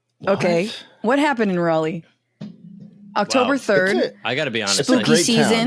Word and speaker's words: Raleigh: our Lord Jesus Christ thank you for pronouncing Raleigh properly they're very particular I've been there a few times so they're like you'll be like rally and they're like oh really you want don't you mean Raleigh so what's the grocery